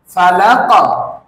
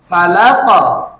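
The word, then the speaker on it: فلق: এভাবে করে আপনি 10 বার বলুন এই শব্দের উচ্চারণ হচ্ছে ফালাক ফালাক ফালাক এই শব্দের অর্থ হচ্ছে প্রবাদের শব্দটি আমার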